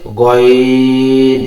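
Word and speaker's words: غين: খ, খ যেখান থেকে উচ্চারিত হয়েছে গইন সেখান থেকে উচ্চারিত হবে। অনেকে উচ্চারণ করে এভাবে গাইন, গাইন হবে না, এটা পুর হবে, মোটা হবে, গইন।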